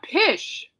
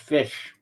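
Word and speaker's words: Phish: Now, Pish had the most fan votes with 327,34 while Bill was third with 258,718. Okay, that's actually pronounced fish.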